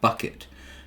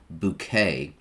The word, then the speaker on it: Bucket: plays the character of hyacinth bucket which she insists on pronouncing as bouquet it details hyacinth's attempts